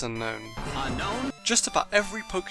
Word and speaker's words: Unown: fine okay this is literally the easiest name to get right unknown the anime says unknown an unknown unknown this unknown that unknown Pokémon Battle Revolution says unknown unknown just about every